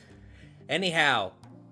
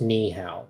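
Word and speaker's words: 你好: Anyhow, her favorite hobby is painting portraits and playing with her violin in the graves of her allies. No, cheap. It's pronounced ni hao, not anyhow.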